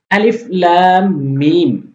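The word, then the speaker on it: الم: আলিফ লাম মিম। এখানে যে হরফগুলা রয়েছে, এই হরফগুলা হরফের নাম ধরে ধরে আপনি ৪ আলিফ করে টেনে পড়বেন। লাম এবং মিম। এখানে বানান হবে না। আলিফ লাম মিম।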